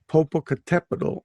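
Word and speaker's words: Popocatépetl: on the tepido that means mountain yeah so popocatepetl and it's next to eastasiwat and that's not spelt anyway and what it's pronounced is it right right and because the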